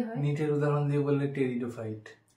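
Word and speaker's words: Pteridophyte: নিটের উদাহরণ দিয়ে বললে টেরিডোফাইট টেরিডোফাইটেরোফাইটের আগে একটা ঠিক আছে পি থাকে আমি কি করতাম আমি পি টেরিডোফাইট বলতাম পি টেরিডোফাইট তো আমার বান্ধবীরা ওটা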